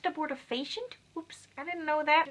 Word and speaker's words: abortifacient: as a board of patients yeah apparently is pronounced abortifacient oops I didn't know that I thought it